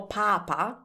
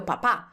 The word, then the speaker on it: papà: instead of il mio papà. So they're actually saying my pope, not my dad. So if you want to avoid this mistake, just remember this. Put more emphasis on the last A.